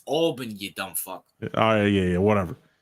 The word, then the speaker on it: Albany: Can you please pronounce it right? It's Albany, you dumb fuck.